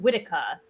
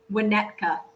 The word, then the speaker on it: Winnetka: And early 2023, the new cities would include Nashville, Scottsdale, and Whittier. Did I pronounce that correctly? Yeah. Winnetka. Oh, Winnetka, whatever.